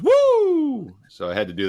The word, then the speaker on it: Woo: tell you you mispronounced the starting pitcher it's pronounced woo so I had to do that my inner